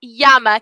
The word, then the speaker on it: llama: l in spanish yeah the double l in spanish sounds like a y so llama is spelled the same from english to spanish but in spanish is called yama can you say yama